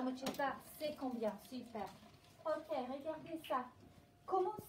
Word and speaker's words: C'est combien: How do we pronounce this one? Have a look. C'est combien? Oui, bon effort. C'est combien?